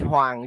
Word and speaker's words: Huang: How do you pronounce his name? it's Huang. You can call him Huang.